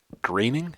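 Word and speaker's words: Groening: animated show futurama and matt greening i think is how they pronounce it or he pronounces it which is really the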